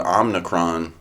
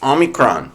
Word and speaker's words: omicron: or as uh as joe biden called to omnicron everybody was mispronouncing it pretty hard for a week so